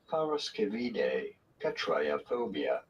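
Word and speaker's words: paraskevidekatriaphobia: do you go about I pronouncing am. this? Freaking terrified. Triaphobia. Did you get it? No. Parascevide catriophobia.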